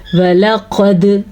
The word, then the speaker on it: وَلَقَدْ: واو اور لام کو لمبا نہیں کرنا، کیونکہ واو کے اوپر بھی پڑی زبر ہے اور لام کے اوپر بھی پڑی زبر ہے، جبکہ قاف کو ہم نے موٹا کر کے پڑھنا ہے اور دال کے اوپر ہم نے قلقلہ کرنا ہے۔ کتنا چھوٹا پڑھنا ہے واو اور لام کو؟